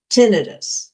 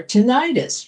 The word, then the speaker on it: tinnitus: Tinidis or tenitis. You may have heard it pronounced.